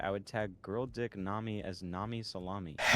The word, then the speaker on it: Nami: Is Nami just a character from One Piece? Yeah, I mean, okay, I can intuitit that. I don't need to ask. And it rhymes with salami.